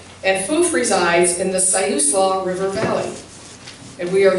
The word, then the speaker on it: Siuslaw: for those of you who don't know it's pronounced siuslaw not suslaw not saees la it's not it's and foof resides in the siuslaw river valley and we are here today on